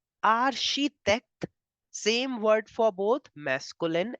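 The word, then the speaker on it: architecte: we were doing nationalities that CH in French gives the sound of sh CH gives the sound of sh so in French you pronounce architect as arhitect arhitect same word for both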